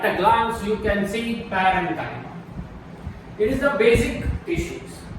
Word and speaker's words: parenchyma: It is pronounced as Parenchyma. Don't try to say Parenchyma. It is the wrong pronunciation. It is called Parenchyma.